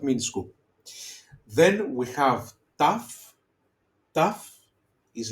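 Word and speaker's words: ταυ: Then we have tough. Tough is like um trapezi. Okay. The table trapezi also remember the uh the shape in geometry the trapezium. Okay. Trapezium. So it's t like top trapezium.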